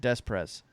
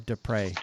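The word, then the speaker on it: Després: was Silverberg gagliano and des prés isn't that something as guys that are or Despres I guess is the proper way to say his name as guys that are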